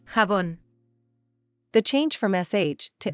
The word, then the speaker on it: jabón: And Shabon, in the Japanese word for soap bubble, Shabondama, keeps the pronunciation of the 16th century Spanish, while in modern Spanish it's Jabón.